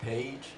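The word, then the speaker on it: PAIG: Well, the project is pronounced Page, but it's spelled P-A-I-G.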